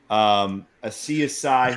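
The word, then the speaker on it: Asiasi: One of them being Devin, and I think it's pronounced Asiasai. Asiasai.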